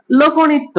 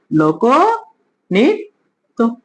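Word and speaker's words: লোকনৃত্য: হবে কারণ ঋকার আছে তাহলে আগেরটা ওকারন্ত হবে লক আর এই ঠিক আছে ত এর সাথে কি আছে জফলা আছে জফলা থাকলে কি হবে ওকারা হবে লোক নিত্য লোক নিত্য ওকে চার নাম্বার নিয়মটা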